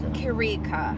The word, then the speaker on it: Chirica: First and foremost, how do the viewers pronounce your name, right? They pronounce it Chirica. Chirica.